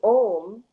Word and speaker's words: Aum: So Om, spelled A-U-M, is the Sanskrit spelling for Om, which is O-M, right?